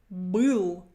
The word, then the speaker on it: был: So number one is Был. Был. My first consonant is hard. My last one is hard. It's not followed by a soft sign. Next one, номер 2, это были.